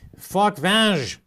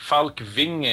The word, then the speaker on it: Falkvinge: Time now to go to Sweden and talk with Rick Falkvange, founder of the Pirate Party. Rick, am I pronouncing that correctly, your name? Fairly correct. It's Rick Falkvinge, actually. It's a Scandinavian name, but yeah, I'm here.